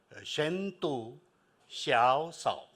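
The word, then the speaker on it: 深度求索: the way I think we should all learn how to say it in Chinese shentu Shia okay that is is what deep seek is and and we are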